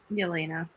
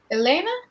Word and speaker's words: Yelena: elena get it right elena that's what i said joanna the y isn't pronounced elena yes the y is just not pronounced oh this name is